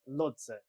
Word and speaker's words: Lhotse: I don't know how to pronounce it. Lodze. Lodze.